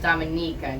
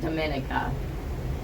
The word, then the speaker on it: Dominica: see it was amazing and the name is pronounced Dominica not Dominica good tip what did you like about it